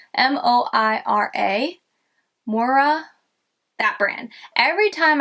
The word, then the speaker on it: Moira: But I think it's Moira, M-O-I-R-A, Moira.